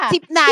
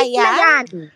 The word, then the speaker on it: Sipnayan: Sipnan sip na yan. Sip na yan. Again sagot. Sipnayan no. Sipnayan. Mali yung pronunciation sipnan.